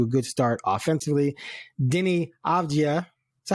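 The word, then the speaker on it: Avdija: Denny Avdia. Is that how you say it? Avdia.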